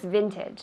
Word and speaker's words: vintage: Teeth on the top of your bottom lip.